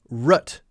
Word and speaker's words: root: common definitely less common she also says rut instead of route this is a pronunciation difference I noticed she says oh they might go out and get a root beer a root beer now this is definitely an older type of pronunciation it's a signal to me people don't say Roo T as root anymore pull it out by the roots go have a rut beer it's an older way of saying it now we